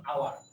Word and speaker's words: hour: কারণ আওয়ার আওয়ারের আগে আমরা কোনো h টাকে প্রোনাউন্স করি না, h টা একদম উজ্জ হিসাবে থাকে, সো যার কারণে আমরা n ইউজ করব, রাইট।